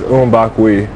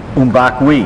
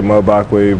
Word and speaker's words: Mbakwe: The proper way is Mbakwe. Mbakwe. Yeah, but people say Mbakwe, but yeah. But the proper way is say Mbakwe.